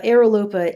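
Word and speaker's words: Aerolopa: that how you say that how do you spell that just out of curiosity since people are listening to this it's uh aeropa a e r o l o p a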